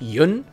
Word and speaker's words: Yeun: By the way, it is pronounced Yun.